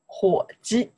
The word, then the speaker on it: 火鸡: Hu ji.